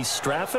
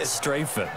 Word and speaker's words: Strafen: It was held in mid-December, and your winner, I.B. Straffen, or is it I.B. Strafen? You've got the pronunciation guide. I.B. Strafen. Strafen. My bad, Mr. Strafen.